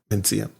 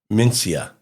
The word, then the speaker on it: Mencía: Is it Mencía? Mencía. Mencía. It's not a TH sound. Somebody told me it's supposed to be a TH could sound.